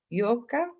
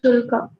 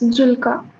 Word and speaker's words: Julka: The J is pronounced like a J, like that? Yes, ma'am. It's Julka. Okay. In Bosnian, I'm going to be messing this up because I have too many languages I don't know well. But in Bosnian, we pronounce it as a Y.